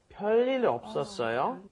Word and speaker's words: 별일: You're not saying 별일. It looks like you're saying 별일 없었어요, but no. You're going to pronounce it as if there was two lils there, lil and lil connecting, so it's going to be a long L.